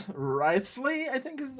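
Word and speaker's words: Wriothesley: Riceley, I think is how his name is pronounced.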